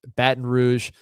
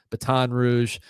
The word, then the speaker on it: Baton Rouge: Baton Rouge, Baton Rouge, Louisiana University Lad.